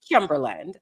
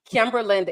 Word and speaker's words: Kimberland: Kimberland like England. Now, you might ask, why do you use that? Right? Because you don't say England, you say England. Now, how is it spelled? Kimberland is spelled like Timberland but you know what people be saying Timberland and that is not my name.